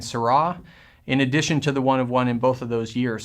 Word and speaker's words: One of One: It looks like chapter 1, verse 1, but we pronounce it One of One.